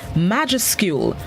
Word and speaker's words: majuscule: This morning's word of the day is majuscule. Majuscule. It's spelled M-A-J-U-S-C-U-L-E.